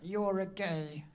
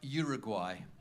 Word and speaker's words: Uruguay: You're a gay. It's pronounced Uruguay.